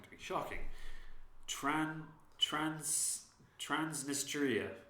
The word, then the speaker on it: Transnistria: go yeah so this place is called my pronunciation is going to be shocking tran trans transnistria transnistria yeah yeah it's a breakaway state in the